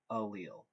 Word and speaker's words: allele: describes that is allele a lot of times students have difficulty pronouncing this it's pronounced like this allele an allele is a